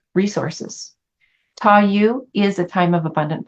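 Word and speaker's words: Ta Yu: in the iching is touu and it's spelled t a and the second word y u so tou the description says possession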